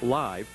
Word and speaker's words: LiV: sale within a month Long Island Vodka it's pronounced live will cost a little more than most other